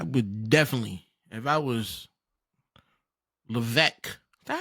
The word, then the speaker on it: Levesque: I would definitely, if I was Levesque. Is that how you pronounce his last name?